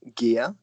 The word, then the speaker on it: Geir: That is the Gear. Gear is spelled G-E-I-R.